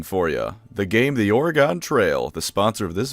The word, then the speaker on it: Oregon: he said Oregon, it's Oregon. He said it wrong.